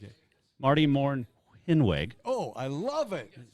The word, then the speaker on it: Mornhinweg: Marty Mornhinweg. Oh, I love it. Is that You're better? Good. Well, that's the German pronounce. That's the way our family pronounces it.